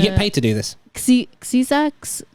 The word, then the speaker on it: Xyza: Xiza, Spell it. XYZA. XYZA. Oh, fair enough. That is Shisa, actually. Xiza. Caesar. It depends on how they use their X.